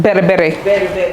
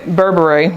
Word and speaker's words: berbere: Bere. Oh, I love that. Or Americans say Berbere, but Yeah.